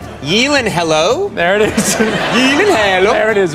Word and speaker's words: Gyllenhaal: Taylor-Johnson and Jake Gyllenhaal, which I know I'm pronouncing wrongly, but it would sound absolutely ridiculous if I was to say it the right way. I have to help you with it. It is actually Gyllenhaal.